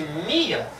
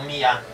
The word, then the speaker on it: mia: E por isso que eu disse mia e não mia. Então, sempre a sílaba tônica das palavras com mais de uma sílaba é a penúltima, paroxítona.